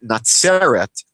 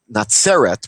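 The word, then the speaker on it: נצרת: that point, but the the Hebrew word is spelled completely differently, meaning the city Nateret would be spelled with it sadi in the English you might write it as TZ. Um Nateret, which is not Nazeret.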